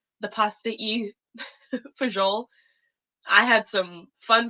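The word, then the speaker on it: fagioli: to pronounce the pasta you for Joel I had some fun pronunciation on that one it's spelled f-a-g-i-o-l-i wow oh god um anyway that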